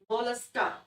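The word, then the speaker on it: Mollusca: और मैंने कहा था मोलस्का को ऐसे प्रोनाउंस करो, मोलस्का, एकदम सॉफ्टली, क्योंकि इनका शरीर बहुत सॉफ्ट होता है, बहुत मुलायम होता है।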